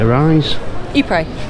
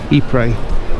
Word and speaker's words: Ypres: Is it Arise? Ypres.